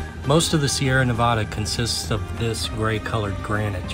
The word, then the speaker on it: Sierra Nevada: according to the locals the correct way to say it is the sierra or the sierra nevada not the sierras typically mountain ranges have a plural nickname you know like the smokies the cascades with rockies if you